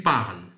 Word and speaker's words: parles: لاحظوا معي ES لا تنطق، نقول tu parles le français couramment.